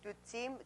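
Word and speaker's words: བདུད་རྩི: In the Tibetan, it consists of two syllables. It is dutsi, du and ti.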